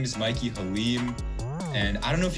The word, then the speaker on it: Mikey Halim: We're here with a professional graphic designer, a pro, I don't know how else to say, a veteran, really, honestly, Mikey Halim. Is that how you pronounce it, right?